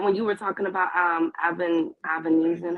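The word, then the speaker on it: Avanesyan: Was that when you were talking about Avenesian? How do you say his name? Was that on Black Prime? It's David Avernesian on BLK Prime.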